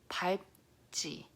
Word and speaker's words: 밟지: Okay, this one is pronounced as 밟지. Again, this one your tongue wants to do the L sound 발, but it doesn't really do that because your mouth has to close it.